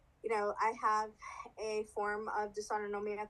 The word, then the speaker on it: dysautonomia: This this dysautonomia? Dis Dysautonomia. Yeah. Okay, I was close. We'll get to it. Yeah. Yeah, so I was diagnosed with dysautonomia. I have a form of dysautonomia called POTS, postural orthostatic tachycardia syndrome, Mhm.